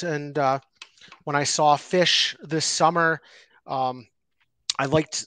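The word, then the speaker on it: Phish: one's for the hoodie favorite mushroom strain plus Fish song pairing and I'm am I pronouncing that right p-h-i-s-h song okay yeah yeah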